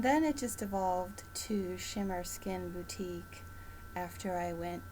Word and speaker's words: Schimmer: people that inner sparkle shimmer and it's spelled s-c-h-i-m-m-e-r and because i wanted to have the chi inside which is your life force energy and then it just evolved to shimmer skin boutique after i